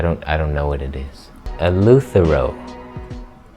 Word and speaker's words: Eleuthero: Eleuthero. That's how you say it.